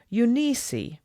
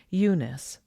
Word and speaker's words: Eunice: a cousin of hers a courtly Old Gentleman used to call her uni that was beautiful but Grandpa uncompromisingly pronounced it Eunice I liked the names